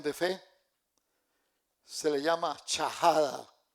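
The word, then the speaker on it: shahada: Se le llama chajada. S h a h a d a chajada.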